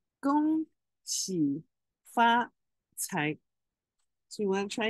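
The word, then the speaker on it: 恭喜发财: Now, Gong Hei Fat Choi is Cantonese. Now we let's say the Mandarin pronunciation is Gong Qi Fa Cai. Gong Qi Fa Cai.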